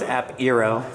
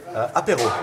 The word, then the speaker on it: Apéro: App Eero. Yes, this is good. This is good. Yes, well, how do you say that? Apéro. Apéro. Apéro.